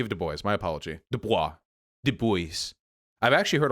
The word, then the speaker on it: Du Bois: it's pronounced different ways i think it's du bois because he rejected the french origins of his name so rather than dubois it was du bois um that's what i'd heard that he he rejected